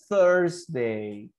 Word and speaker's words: Thursday: That's a pronunciation. You say, yeah, that's the sound. You say Thursday.